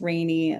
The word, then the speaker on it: Rainey: It's pronounced rainy like the weather.